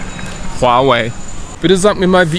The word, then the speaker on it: Huawei: Für die Leute, die wissen wollen, wie es richtig ausgesprochen wird, es ist folgende Aussprache. Huawei. Huawei.